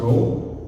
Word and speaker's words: rho: It's pronounced rho and represents what?